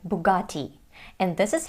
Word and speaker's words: Bugatti: In American English though, it sounds like Bugatti because of the American flap T, which sounds like a fast D.